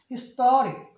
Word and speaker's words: historic: 그래서 발음이 historic 이렇게 돼요.